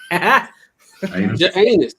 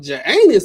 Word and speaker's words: Janus: Janus. That should sound like you ski. Parts on your skin. The J is silent. It's anus.